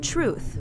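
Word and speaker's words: TRYOUTH: Austin started a nonprofit called Truth. It's spelled T-R-Y-O-U-T-H. So it's basically the truth directed to the youth.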